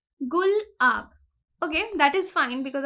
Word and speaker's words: गुलाब: अब जो नेम है ट्रॉपिकल साइक्लोन गुलाब का, इसको प्रोनाउंस कैसे करना है in case the people don't know, it इज गुल-आब।